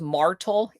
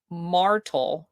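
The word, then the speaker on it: Martel: Declaration of Independence another entity called The Charles martal m- a r Tel Society um it was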